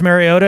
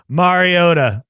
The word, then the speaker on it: Mariota: do it again Mariota he says a cut in between he doesn't say Mary doesn't say Mariota either Mariota Mariota I'm glad we're spending time our listeners are gonna know they're gonna know when somebody's pronouncing Marcus mariota's name incorrectly you just did it wrong you just did it the way that I was doing it right there not marry like Mario Super Mario Brothers Mariota all right it's